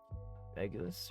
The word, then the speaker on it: Regulus: Regulus, or yeah, I think that's how you say it.